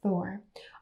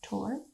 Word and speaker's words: Thor: of the norse gods thor although i think it's supposed to be pronounced tor the god of thunder